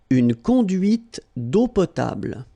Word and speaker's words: une conduite d'eau potable: And then when you combine these two, these three vowels A, U, you get the sound O. Only O.